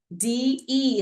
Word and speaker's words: de: D-E is pronounced day.